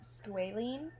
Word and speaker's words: squalene: as i'm editing this i'm realizing it's squalene i looked it up on i asked siri i asked siri okay yeah siri what it is she said squealing and i don't know why i pronounced it as squalling because i literally never had before so let's just ignore